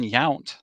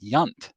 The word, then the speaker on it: Yount: And then Robin Yount, he pronounced several times Robin Yunt.